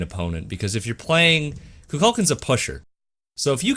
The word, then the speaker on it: Kukulkan: You just called him Kukulkan. Oh, It's Kukulkan. I'm sorry, I didn't put the inflection on there.